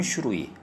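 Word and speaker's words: 種類: 종류는 슈루이 서류는 쇼루이 이게 조금 헷갈릴 수 있는데 많이 읽어보세요.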